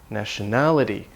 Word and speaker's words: nationality: D the nation national the vowel changes national and then the stress moves nationality this is a Latin pattern where the syllable often goes in the second or third syllable from the end of the word this is common in